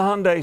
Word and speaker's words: Hyundai: to say their name it rhymes with Sunday the sign said and the vehicle on